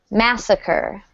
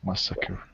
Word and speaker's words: massacre: Massacre. Okay, massacre. Good, massacre. Thank you. Okay. Whenever you see this RE like this, it's pronounced the same as ER.